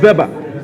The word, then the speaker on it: Weber: pronounce it correctly Max Weber I hear that the Germans make WV okay so then I was right by it's always good